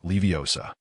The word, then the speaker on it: Leviosa: "It's because you mispronounced the spell. If I recall correctly, your previous incantation was Leviosum." Ron muttered Leviosa and Leviosum twice, his expression turning sour.